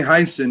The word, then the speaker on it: Heinsohn: Tom Heinsohn or Henson? Tommy Heinsohn, yeah. Tommy Heinsohn, he was a former Celtic great.